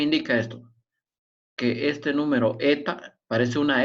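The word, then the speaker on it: η: Se lee o se escribe así, eta.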